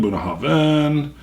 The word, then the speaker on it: Bunnahabhain: when I tried it but they got the pronunciation buah Haven aromatic experience did a little smoke light fruit